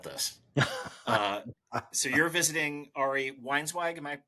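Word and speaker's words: Weinzweig: So you're visiting Ari Weinswag, am I pronouncing that correctly?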